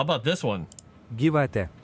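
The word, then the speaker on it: gyvatė: Gyvate. Gyvate. That is Lithuanian. Oh, here, Luxembourgish. Oh, they don't have a pronunciation for this one, but this is how it is spelled in Luxembourgish.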